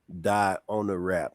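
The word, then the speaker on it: Dionarap: It's called Paranoid, spelled backwards. It's How you pronounced say it? die on the rap. And the reason why I flip the word paranoid backwards and you hear the phrase die on a rap forwards is because people keep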